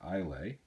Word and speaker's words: Islay: Crockett and Jones does called the ilay pronounced is l a y um these are actually